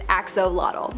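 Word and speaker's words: axolotl: we have the Axel there is much speculation as to how to pronounce the name of this creature but for the most part most people believe that it is axolot but another one that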